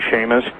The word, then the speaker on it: Chamish: Yes, and interestingly enough, really interestingly enough, I don't know if you've ever read any of Barry Chamish, Chamish, or some people pronounce his name Seamus, from Israel, but he's